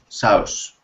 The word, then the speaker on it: sauce: curry sauce now uh with the word sauce remember the e at the end of the word is silent sauce okay is silent so we do not pronounce that okay good now when